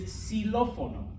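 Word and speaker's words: xilófono: in spanish okay um if the x is at the beginning of a word okay it sounds like an s okay now there's not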